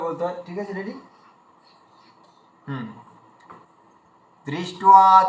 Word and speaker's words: দৃষ্ট্বা: আমরা বাঙালিরা কি করি, যেখানে দয় রি থাকে উচ্চারণ করার সময় দয় হর্ষি উচ্চারণ করে দিই, এবং দৃষ্ট্বা বলে দিই।